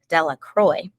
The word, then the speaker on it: De La Croix: Harry Jones and Dickie De La Croix the villagers pronounced this name Della Croy eventually made a great